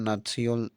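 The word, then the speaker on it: Nazi: क्योंकि जर्मन भाषा में नेशनल शब्द का उच्चारण नात्सियोल होता है। इसी शब्द के पहले अक्षर नात्सी को ही नाजी कहा जाने लगा।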